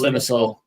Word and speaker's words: Limassol: Group number C, Aris Limesol. How do you say the name? So I don't know how to say it. Aris Limassol.